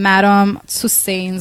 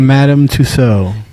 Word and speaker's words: Madame Tussaud: figure a Beyonce from madam sustains or whatever sue says what is it I forgot I pronounced it Madame Tussaud thank you thank you